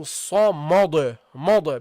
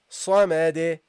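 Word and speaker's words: الصمد: Okay, now keep in mind, guys, this meme is a light letter. Okay, don't make the mistake of pronouncing this heavily because of the sad. Okay, that is not allowed. So don't say Allahu samad because you said sa, you have to say ma. Okay, don't do that. So keep it light, keep it nice and light. Okay, so you go Allahu samad samad, Allahu samad. Okay, that's how you should pronounce it.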